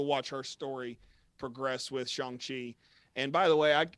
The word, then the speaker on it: Shang-Chi: badly pronouncing this movie i wanted so badly to call it shanghai i'm sure that i've